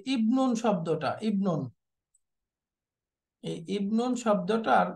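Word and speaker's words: ابن: নাউনের মাঝখানে আসে তখন এই হামজাটা উচ্চারণে তো আসবেই না, এটা হামজাতুল ওয়াসলি, বাকি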